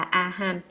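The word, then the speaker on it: Arhan: Đại A-la-hán là tiếng Ấn Độ, nguyên âm đọc là A-han, có hàm ba nghĩa.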